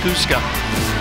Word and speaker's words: Kuska: I was trying to remember what athletic director Jeffries told me how to pronounce her last name. It is Kuska.